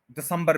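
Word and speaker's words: December: word दिसंबर नहीं है यह है डी स ब संबर देखा आ गया ना स्टाइल डिसंबर दिसंबर यानी से प स्ट्रेस करना है थ्री सिलेबल्स है सेकंड वाले पर स्ट्रेस है दिसंबर अब आप कंपेयर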